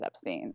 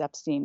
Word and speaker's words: Epstein: find him talking about how it's Epstein not Epstein but again he also says that Brian changed the pronunciation of his name so again if